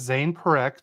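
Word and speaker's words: Zayne Parekh: His name is Zane Perek.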